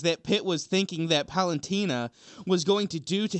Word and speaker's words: Palutena: Out of all of the many things that Pitt was thinking that Polenta was going to do to him. Polenta? What is she, a bean? How do you say it? Palutena.